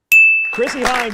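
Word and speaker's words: Chrissie Hynde: Chrissy Hind is correct, of the Pretenders.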